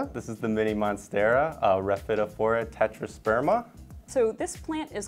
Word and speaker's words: Rhaphidophora: It's Rhaphidophora, so just basically muting that P to kind of give it a softer sound.